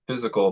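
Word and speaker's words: Fyzical: I was saying so it's physical but it's spelled fyz I C so you can go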